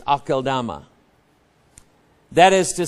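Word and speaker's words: Aceldama: d ma huh it doesn't show that it's pronounced Akama I used to say assalama but it's akal dama that is to say the field of blood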